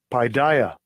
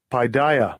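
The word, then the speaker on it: παιδεία: Well, first of all, it's pronounced like this. Strong's G 3809. Paideia. Paideia.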